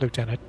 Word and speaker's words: lieutenant: pronounce it I classic I pronounce it leftenant not lieutenant what's the Canadian way